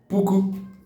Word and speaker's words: puku: 1000 is pronounced in Igbo as puku. Nari, 100. Then 1000 is puku.